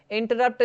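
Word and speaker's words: interrupt: तो आप कैसे लिखेंगे इन उसके बाद लिखेंगे टी ई आर इन ट इंट उसके बाद र साइलेंट है ना यहां पे फिर दूसरा र लगेगा आर यू पी टी तो ज्यादा जो स्ट्रेस होगा स्ट्रेस जो होगा वो होगा इसमें तो इस तरह से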